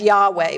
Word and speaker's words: Yahweh: name is abbreviated yhwh we christians pronounce that as yahweh but we're not sure that's right and we don't really